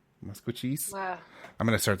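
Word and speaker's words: Maskwacis: It's the real spelling is MASKWICIS, but it's pronounced more like MUSKWACHEES. Musquachis.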